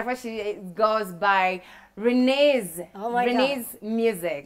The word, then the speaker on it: Renez: course she goes by renee's denise music you got an a to pronouncing my name renee's yes it is most people don't get it right you know different pronunciations renee's